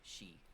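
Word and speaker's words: 死: This is due to the pronunciation of death and 4 in Japanese, both being she.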